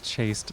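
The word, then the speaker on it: chaste: I think it's chast is how it's pronounced. Hast snail is chast snail. Am I though? Am I really chast? I've always pronounced it chased by the way. By the way, so like the rhyme works for me.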